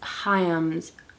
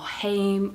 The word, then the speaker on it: Haim: came out yesterday is hayam's album or haim or heim however you want to say it i'm pretty sure they pronounce it hayam hayam that's how i'm pronouncing it their album came